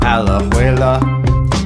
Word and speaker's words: Alajuela: Alajuela's how you say it, I'm done, goodbye.